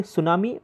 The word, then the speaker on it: tsunami: सुनामी एक Japanese word है, इसीलिए उसका स्पेलिंग आप थोड़ा देख सकते हो कि सुनामी प्रोनाउंसिएशन तो ऐसा एस से होता है लेकिन उसके आगे टी लगता है.